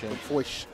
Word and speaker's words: Chrim Foish: Chrim Foish.